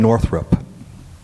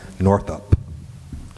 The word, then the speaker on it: Northup: The answer we were looking for is Solomon Northrup. Solomon what? Northrup. Solomon Northrup. Or maybe I should pronounce his name. Northup. I'll do that. Northup. N O R T H U P.